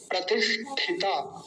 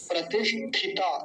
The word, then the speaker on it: प्रतिष्ठित: है पीछे प्रतिष्ठित प्रतिष्ठित देखिए प्रतिश मूर्धन्य सकार और ठता ठता तो कई बार यहां बोलने में बड़ी गड़बड़ हो जाती है जैसे एक शब्द होता प्रतिष्ठित तो लगभग वैसा ही है प्रतिष्ठित तो बोलने में एक गलती जो हो जाती है वो ये हो जाती है कि प्रतिष्ठित था बोल जाता है यहां था नहीं है ता है त